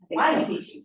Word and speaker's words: Huayna Picchu: Huayna Picchu, yeah. And that's the mountain you see at Machu Picchu. So Machu Picchu is called after the south-facing mountain, which is never actually in photographs. The Huayna Picchu mountain is the one you see in the